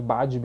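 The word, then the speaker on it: Badb: Se escreve Badib, mas a pronúncia mais correta ali, mais assertiva é Baive, até onde eu sei.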